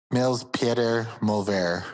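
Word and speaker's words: Nils Petter Molvær: Niels Peter Mulver.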